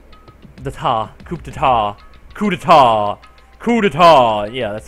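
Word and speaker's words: coup d'état: Acts of terrorism and coupata coupata. Coupetar. Coupetar. Yeah, that's how you pronounce it, began occurring around the world and a war waged in the name of despair.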